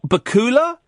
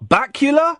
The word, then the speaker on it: Bakula: how do you say is it Scott Bakula Scott bacula how do you say his name it's biller yes okay right brilliant well